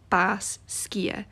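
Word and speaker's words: Basgiath: pronounces Bez Gaiath, but if you were pronouncing it like a Gaelic speaker, you would say Bas Skia. It's actually two words. Bas, which means death, and Skia, which means wing.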